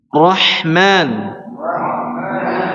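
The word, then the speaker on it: الرحمن: Roh coba rahman rahman rahman rahman arrahim arrahim arrahim arrahim ya. Jadi pengucapan huruf ra harus dialirkan sedikit. Arrahmanir nir nir nir nir disembunyikan sifat getarannya. Kemudian juga diberikan sedikit aliran suara ar.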